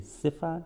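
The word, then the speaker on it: צפע: the word सिफा, Hebrew word है सिफा, TSEPHA, सिफा, T silent है, H6848 and has been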